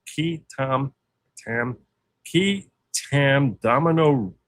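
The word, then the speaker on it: qui tam: This is a Latin phrase key spelled Q UI. So some pronounce it qui but the proper pronunciation is likely key Tom tam key tam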